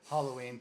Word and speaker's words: Halloween: It's after the word hallow.